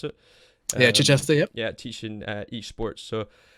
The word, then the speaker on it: Chichester: Is that how you pronounce it? Yeah, Chichester.